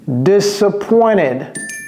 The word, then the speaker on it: disappointed: I'm disappointed. Disappointed. Vous voyez comment je prononce ça? Disappointed. Donc il y a E et puis le D.